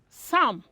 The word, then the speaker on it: psalm: words the letter p the letter p is silent letter p is silent words like son you don't pronounce that you you don't pronounce as psalm it's sam psychology some cupboard and